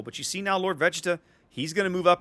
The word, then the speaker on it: Vegeta: just take a solid hit there vegeta that's pronounced vegeta okay i know it's an anime thing but